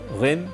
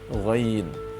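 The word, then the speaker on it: غين: Jadi bukan ain, ghin, tapi ain, ghain.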